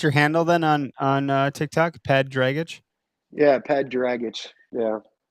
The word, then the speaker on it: Ped Dragich: my real name is Ped Dragich. That's my real name. That's the way you would say it.